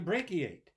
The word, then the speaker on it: brachiate: brachiate hmm breaky it I wonder how many syllables it has yeah three so there it is it's got that CH in the middle right but it sounds like a K brachiate and you all know